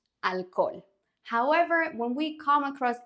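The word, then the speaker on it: alcohol: can we pronounce it the age in Spanish is special because it's always silent like one word that almost all my students mispronounce at the beginning is this one it's not Alco ignore the H alol however when we come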